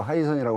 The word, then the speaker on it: 하이선: 네, 하이선 아마 바다에 따신 해신을 중국 발음으로 하이선이라고 하는 것 같은데요.